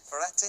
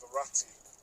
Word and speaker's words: Verratti: would that midfielder be i hope i can pronounce his name properly marathi ferretti oh yes verratti now this is this is a proper player